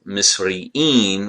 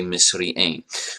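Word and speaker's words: مصريَّين: So the difference is, instead of saying, you know, misri'in, we'll say misri'ain.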